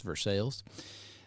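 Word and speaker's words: Versailles: up in versales Kentucky it's the correct way to pronounce that it's versales uh it is the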